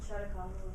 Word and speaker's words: Chautauqua: Chautauqua or something movement. Anyone pronounce it right? It's a city in New York was named after. Chautagua? Chautagua. There you go. All right, I have hard enough time pronouncing it, of course, but there.